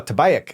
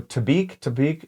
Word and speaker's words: Tabayak: And I only know how to pronounce that because I showed this word. I'm trying to pronounce it with Mo, and he's like, "Oh, Tabayak." And then then I talked to the Bedouins. Yeah. And they're like, I go Tabik, and he goes Tabayak.